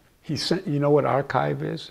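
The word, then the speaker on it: arXiv: paper he published he sent you know what archive is it's a place where peop it's a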